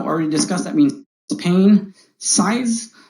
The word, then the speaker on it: cise: discussed that means pain size c-i-s-e pronounced like size this means uh to